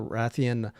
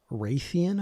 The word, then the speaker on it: Rathian: Monster Hunter videos, and I used to call Rathian, uh, Raytheon, I think is what I used to call her, Raytheon Yeah, or a Raytheon.